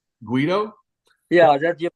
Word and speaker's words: Guido: like it all right cool you also you pronounce it correctly Guido yeah that you pronounce it correctly some people